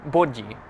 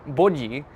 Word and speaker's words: body: So the singular form is bod. Maybe not pronouncing it the best, but like bod, something like that. And plural would be bodji. So it sounds like the English word body, but it's not meaning body.